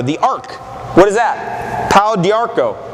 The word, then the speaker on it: Pau d'Arco: Pau d'Arco. Pau d'Arco. French pronunciation.